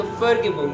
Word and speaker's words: Vergebung: Vergebung नहीं पढ़ रहे, बल्कि जर्मन लैंग्वेज में वी को एफ की तरह पढ़ रहे हैं, तो Vergebung है।